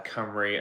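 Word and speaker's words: Cymru: Camper Van Furniture uh Camry as in the Welsh uh pronunciation and spelling um we have some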